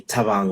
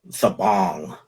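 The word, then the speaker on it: Thabang: um savannah spelled t-h-a-b-a-n-g so when people pronounced it they'd pronounce it as fabong you know and um i i went back and forth should i change it and at one point it was being pronounced as the bang um that was an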